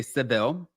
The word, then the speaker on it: Sevilla: So, Real Housewives of Miami, it's funny because they're in Sevilla, Spain, right? And I like how they were talking about, well, you know, Americans say Seville, but watching the show,